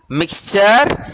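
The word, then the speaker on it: mixture: உங்களுக்கு ஏற்கனவே சொல்லியிருக்கேன், TURE வந்த சர். TURE வந்தது MIX மிக்சர்.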